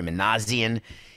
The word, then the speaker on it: Manassian: Because I said, is it Perry Manassian? Is it Perry Manassian? It's, and then he writes in the document, Min-A-C-N. So, of course, I say Manassian.